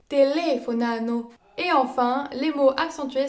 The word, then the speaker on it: telefonano: Puis les mots accentués sur la quatrième syllabe, ils sont appelés les parole bistrucciole. Ils sont assez rares et il ne s'agit que de formes verbales. Telefonano.